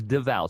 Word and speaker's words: Devall: the only thing is they always misspell my name they always spell it like it's pronounced Duval but it's not Duvall it's Deval so it's deev and for the any